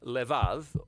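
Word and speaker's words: לב: in this prayer heart which in Hebrew is sometimes pronounced levav or more often in a shorter form Lev now different cultures throughout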